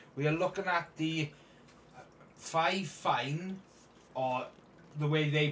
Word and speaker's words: FIFINE: video this time we are looking at the five fine or the way they pronounce it is fine fine it's a um streaming microphone on Amazon it's